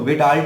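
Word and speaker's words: Widal: Confirm करने के लिए हम लोग एक टेस्ट करते हैं, उसका नाम है वाइडल टेस्ट. इसको विडाल टेस्ट भी बोल सकते हो.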